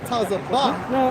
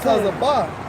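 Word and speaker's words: צָבָא: Hey, and when you go into that term host in the Hebrew, it's Strong's H 6635, pronounced as Tazabah. Tazabah.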